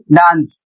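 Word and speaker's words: dance: जैसे यहां पर लिखा है डी ए एन सी ई इसे पढ़ेंगे डांस और इसकी हिंदी होती है नाचना।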